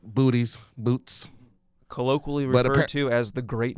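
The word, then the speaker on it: Boötes: towards bootes I mean I know how to say it booties boots colloquially as the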